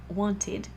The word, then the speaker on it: wanted: un santé et un sondé je vais dire wanted l'idate je rajoute t-il avec tout le reste